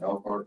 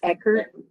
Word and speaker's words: Eckert: The district has recommended that the board adopt the agreed board order with Elkhart American Corporation. Is there a motion to adopt the agreed board order? One clarification, Okay. it's pronounced, it's Eckert.